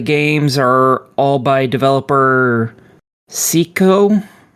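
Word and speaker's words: Psikyo: Uh, it's uh the games are all by developer Seiko. P S I K Y O. Psycho. Okay. I I assumed it wasn't pronounced that way from the spelling.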